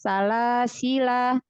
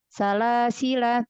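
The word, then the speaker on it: سلاسلا: Ketika dia wasol, maka alif tidak dibaca langsung. Salasila terus lafaz selanjutnya. Tapi kalau dia wakof itu ada 2 cara. Salasila dipanjangkan la-nya, alifnya dibaca 2 harokat.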